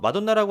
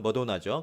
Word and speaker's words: Madonna: 그래서 마돈나라고 하지만 실제 발음은 머도나죠. 그래서 Madonna will turn 57 in August입니다.